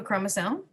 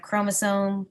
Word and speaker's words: chromosome: k now we have chromosome chromatin chromatid we'll have more as the year goes along but in science we don't say the CH sound for some reason it always sounds like a k chromosomes condense or get